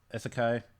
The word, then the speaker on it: isekai: The premise of this story is it's not necessarily isekai. I can never. Am I pronouncing that right?